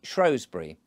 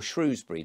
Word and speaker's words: Shrewsbury: should say, in Shropshire, of Shrewsbury, or Shrewsbury, depending on how you wish to pronounce it.